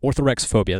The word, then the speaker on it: orthorexophobia: a new phrase orthorexophobia orthorex phobia that's the proper way to say it and according to them